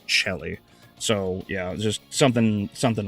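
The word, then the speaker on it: coeli: It's C O E L I in English, but it's pronounced Chelly.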